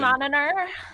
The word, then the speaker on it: monitor: Like everyone wants you to pronounce the T, so it's monitor. And you have to really emphasize Yeah, that's the a T. It's a Midwest thing. We tend to drop T's.